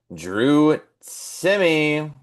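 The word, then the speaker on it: Drew Timme: And then we got, you guessed it, Drew Timmy.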